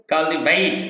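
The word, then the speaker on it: cultivate: অফ the word is কাল্টিভেট অর্থাৎ ডাহ sound হবে এখানে টি টাকে ঠা বলা যাবে না বা ঠ বলা যাবে না কাল্টিভেট হবে আর ব্রিটিশ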